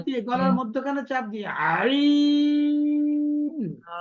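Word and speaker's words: ع: আইন আইন আইন হুম যখন আপনি হা করে ফেলবেন তখন দেখবেন আপনার গলায় একটা এমনি চাপ পড়ে যখন পুরোপুরি হা করেন তখন গলায় এমনিতেই চাপ পড়বে ওইখান থেকে আইন উচ্চারণ করা শুরু করবেন আপনি হা করে ফেলবেন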